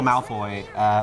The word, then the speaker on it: Malfoy: So it's Ma in Cantonese. Ma is like horse, and then Foot is like fortune.